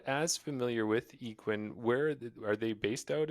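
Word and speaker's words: Yikun: sponsor is uh yakun discs yes it's actually pronounced equin but it's okay that was going to be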